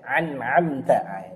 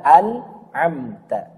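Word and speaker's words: أنعمت: Sering juga ada yang salah, an'amta ini bacanya an'amta, dua-duanya a, atau an'amta, dua-duanya a. Ini keliru ya. Yang benar adalah an'amta. Yang pertama a, yang kedua a.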